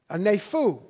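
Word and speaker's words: νήφω: This is a Greek word, and the Greek word is nepho, and it's spelled N-E-P-H-O.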